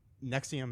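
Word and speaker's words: NXIVM: anyways okay the um Nexium is NX I VM is how it's spelled it is a uh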